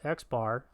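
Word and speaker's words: x̄: X bar, or X with a line over it, pronounced X bar, is the sample mean.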